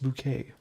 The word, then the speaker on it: Bucket: Miss Bucket, that show was funny. Keeping Up Appearances. It's pronounced bouquet.